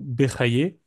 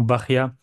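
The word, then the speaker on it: Bahya: cercles Juifs traditionnels rabénu berayé ber vous comprenez que c'est une une mauvaise prononciation de du prénom BIA lorsqu'on écrit en hébreu et la deuxième figure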